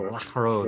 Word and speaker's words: La Rose: So La Rose, it sounds like an H, but it's a rolling R.